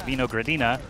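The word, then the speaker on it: Винорадина: So in English, we would pronounce that Buhor Paduha, but it's kind of a weird name. But in Russian, actually, it's pronounced Vinogradina, which is basically just the word grape, G-R-A-P-E.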